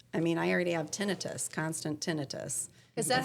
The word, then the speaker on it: tinnitus: I mean, I already have tinnitus, constant tinnitus.